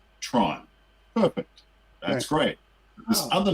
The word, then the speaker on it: Theron: in the day called Tron, which for an American audience would be Tron. Right. And that's fine. That's much closer. That's fine. She should have just said to them, "You pronounce my name Charlize Tron."